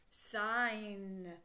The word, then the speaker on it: sign: together say n and again the G is quiet the K was quiet here the G is quiet there okay so let's sound